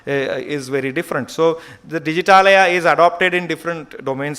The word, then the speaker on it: Digitalaya: It is an Indian English name for the trusted digital repository, because it is Digitalaya can be pronounced in one breath, and it means, as you must be aware of Himalaya.